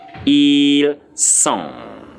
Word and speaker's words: sont: The T is not pronounced. So your pronunciation stops at the end. So you have ils sont.